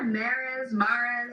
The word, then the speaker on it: Mares: Is that how you pronounce it? Yeah, Mares, Mares, I wasn't sure.